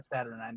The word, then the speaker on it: Saturnine: Yeah, Saturnine, that's how you say it.